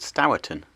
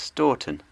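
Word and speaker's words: Stourton: that this Junction and town would be called stowton but it is in fact pronounced storton and I was corrected on this on my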